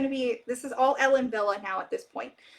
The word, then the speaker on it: Ellen Wille: me um I say Ellen Willie cuz I see no V yeah it's German Kim that's that's why yeah it's Ellen Villa because that's how W's are pronounced in German um says do you